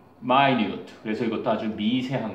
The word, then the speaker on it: minute: 그럼 뭐랑 비슷하냐면 이게 minute라고 읽지 않고 뭐라고 읽니? minute.